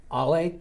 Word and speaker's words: Ale: So how are we pronouncing A-L-E? Really, Jerry? No, well, you didn't have it. You should have put a phonetic in there. Ollie.